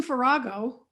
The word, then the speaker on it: Farago: Jason Farago, which rhymes with Chicago, is critic-at-large for the "New York Times" where he writes about art and culture in the US and abroad.